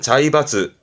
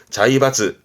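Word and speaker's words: 財閥: 발음은 자이바즈. 자이바즈. 그렇죠. 그런 경제계. 자이까이 그런 경제계에서 뭔가 세력이 있는 그런 자본가들을 재벌이란 말을 쓰지. 자이바츠.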